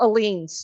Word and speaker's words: Ehlines: And Michael Aline's channel.